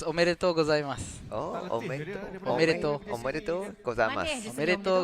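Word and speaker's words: おめでとうございます: Okay, it's omedetou gozaimasu.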